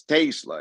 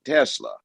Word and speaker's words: Tesla: And the way you would pronounce it is E is A, not A. So it's Tesla. In America, we say Tesla.